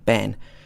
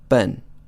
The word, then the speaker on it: ben: for example be en you would expect it to be pronounced been like the name Ben but actually it's pronounced burn burn not Ben but